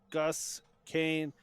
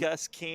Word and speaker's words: Gus Kane: And up to bat now is Gus Kane. This was one that the coach for Swift Current came up to make sure that we got the pronunciation right. And Gus Kane, a freshman out of Buda, Texas.